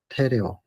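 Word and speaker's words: τηρέω: 우리 말로 지금 발음을 한다면 테레오.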